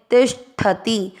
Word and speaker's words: तिष्ठति: ती के साथ आधा से षटकोण वाला तिष्ठ में मिक्स करेंगे, तिष्ठति।